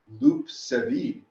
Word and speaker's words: loup-cervier: Now, it turns out Lucifer, derived from Lucifer, is actually just a mispronunciation of the French word loup-cervier, which is the deer